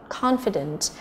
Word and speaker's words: confident: Number 4 chúng ta có A là confident, confident là trọng âm thứ nhất, tự tin.